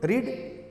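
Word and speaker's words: read: चाहिए आप य शुड रीड आपको पढ़ना चाहिए था तो रीड का भी रीड का थर्ड फॉम भी रीड ही होता लेकिन पढ़ते हैं उसको रेड तो कहेंगे यू शुड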